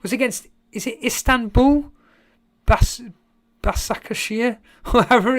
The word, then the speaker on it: Başakşehir: So Karma Baby's saying it's pronounced Başakşehir.